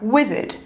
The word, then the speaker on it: wizard: Última palavra, wizard, wizard. Sílaba forte, wizard, wizard. Sílaba forte é o we, ok? Wizard, wizard. Sílaba fraca, wizard. Aqui, então, o A vai ser reduzido ao schwa e ele vai servir